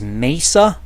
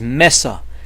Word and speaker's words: mesa: for quite often as Mesa but it is Meza because it comes from the Spanish word for table land and of course it